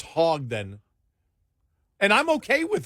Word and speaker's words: Hogg: Yeah, no, it's Hogue. Quit saying not Hogg. It's Hogue.